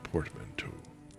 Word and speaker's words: portmanteau: A portmanteau. I see, that's how it's pronounced.